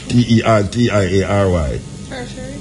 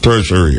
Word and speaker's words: tertiary: an accredited territory territor pron again come you pronounce it t e r t i a r y tertiary tertiary de see hey my wife God